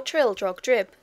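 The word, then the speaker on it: Trildrogdrib: tr drag dub or Trill drog drip for it is pronounced both ways as near as I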